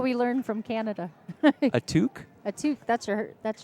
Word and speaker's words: toque: tooth that's what we learned from Canada a toque a tooth that's her that's your like skull captor beanie how do you spell that tou I think it's T o qu e oh is that what you qu Yin it's